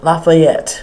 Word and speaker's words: Lafayette: Did I pronounce his name? Lafayette.